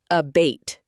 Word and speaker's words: abate: A bait pronounced abate.